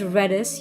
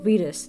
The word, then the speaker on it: Redis: in the industry who are hiring um it's pronounced reddis you you said Reedus did I say Reus um okay so it